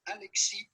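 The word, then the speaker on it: Alexis: french or canadian french his name would be pronounced as alexi yes is silent so do not pronounce it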